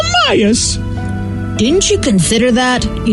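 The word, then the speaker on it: Amias: frustrating what's his name a-m-i-a-s it's pronounced amayas didn't you consider that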